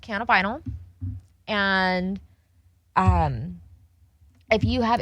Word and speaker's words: cannabinol: give misinformation yeah so CBN is pronounced canab vinyl and um if you